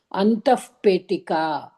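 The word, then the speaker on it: अन्तःपेटिका: சி எப்பொழுதுமே விசர்க்கம் வந்துட்டு அதுக்கப்புறமா ப வந்ததுன்னா அதை ஃப மாதிரி ப்ரொனவுன்ஸ் பண்ணணும். அந்தஃப் பேட்டிகா.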